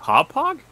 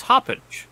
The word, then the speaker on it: Hauppauge: so wait of it it's pronounced hauppage yes yeah so that was hoppin nope wow that's that I have heard people called a hoppin that that is the